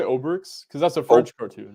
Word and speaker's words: Obelix: that's that's just funny to me ostrich and Obelix was a big thing here as well as Tintin uh yeah my friends recommend uh one of my my sweetest friend recommended Asterix and how do you say obricks because that's a French cartoon right Obelix Obelix